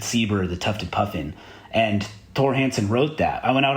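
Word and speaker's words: Thor Hanson: I've heard his name pronounced different ways, but it's spelled like Thor, but it's like Thor, but I think it's pronounced Tor. Anyway, Tor Hansen is this guy's name, and he has a book.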